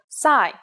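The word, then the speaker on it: ψ: it in English called PSI there is no corresponding sound in English it makes up s sound like P and S set at the same time here's the uppercase C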